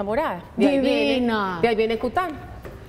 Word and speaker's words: Coutin: De ahí viene Cután. Cután. Cután. Se escribe Coutín y se pronuncia Cután.